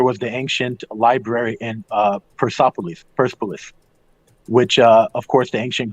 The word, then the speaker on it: Persepolis: Also, there was the ancient library in Persepolis, which, of course, the ancient Greeks and Persians, you properly pronounce it Persepolis, which is the city of Persians, and that was burned down by Alexander the Great.